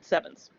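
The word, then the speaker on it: CEvNS: all to spread the meme of using the pronunciation sevens okay so that is a side note okay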